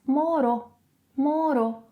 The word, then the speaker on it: morou: 'Morou', when speaking, may be pronounced as 'morô'. 'Outro' - 'ôtro' So then here we would have...